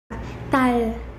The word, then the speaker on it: 달: Quando está sozinho, tem o som de L. Para pronunciar, coloque a ponta da língua no céu da boca. Tal.